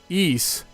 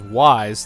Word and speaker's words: Ys: yeess a game that's often mispronounced as wise thanks to a mistranslation that put an apostrophe in between the two letters that make up its name eise is still around